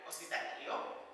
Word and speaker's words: hospitalario: So my advice to you is to break it up into two. Because hospital, you can say that because we have the word in English. So instead of trying to say the whole thing, just say hospital and el lario.